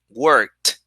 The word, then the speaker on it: worked: So since work is unvoiced, the pronunciation is with the t, t sound.